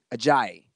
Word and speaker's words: Ajayi: You remember last year they had Blunt and how do you pronounce his name? Ajayi.